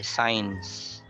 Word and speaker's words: science: Then the uns is a schwa, so you can remove it. You just connect it directly with the I, science. So it sounds like SIGNS.